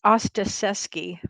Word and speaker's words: Ostaseski: going to say his name right but frank ostaseski that is correct that is correct i butcher everything really no i had to pronounce it several times thinking i was going